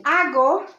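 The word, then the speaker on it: hago: we move on remember in spanish it's always silent h so we spell it but we don't pronounce it so it's a and then ago then we have asses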